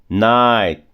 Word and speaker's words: night: O GH não tem som. Night, side, fight. Na verdade, o G e o H e o T. Você vai comer os três.